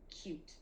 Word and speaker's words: cute: There should be an E at the end, that silent E that makes the word cute. But a lot of times, since we don't hear it, kids write the word cute like the word cut without the E.